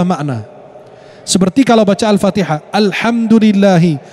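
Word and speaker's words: الحمد لله: Seperti kalau baca Al-Fatihah, alhamdulillahi, bacanya al-ha, pakai ha, artinya pujian. Kalau dia sampai melafalkannya dengan al-ha, pakai ha bukan ha, artinya kematian.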